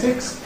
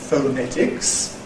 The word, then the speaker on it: phonetics: onto the ‘net’ /net/, /fəˈnetɪks/. The first syllable, now, people say to me sometimes, “Don’t you say /fəʊˈnetɪks/?”